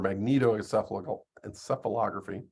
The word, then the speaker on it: magnetoencephalography: This is, as you can see, that long word that's pronounced magnoencephalography or magnetoencephalography.